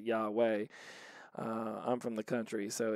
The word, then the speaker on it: Yahweh: they say yahweh but it looks a lot like yeehaw on the screen but they pronounce it yahweh i'm from the country